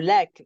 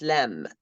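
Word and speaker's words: لام: the last one yeah the native Arabic might say la it's not La it's lamb lamb it's like L but without the a lamb lamb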